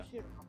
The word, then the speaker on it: Toshiro: Toshiro. Yes, toe, like your foot.